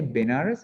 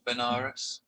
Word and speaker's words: Benares: Varanasi, Varanasi or Varanasi. When you pronounce it in English, maybe you say Benares or something. Peter, how do you pronounce this word? Benar, I'm not sure. Benares. Benares. Benares. In Pali, Varanasi or Varanasi. Or in my language, Sinhalese, we say Varanasi. Varanasi.